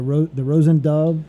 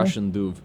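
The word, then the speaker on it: Róisín Dubh: I know you played the, forgive me if I'm saying it wrong, the Rosen Dove in The Galway? Russian Duve.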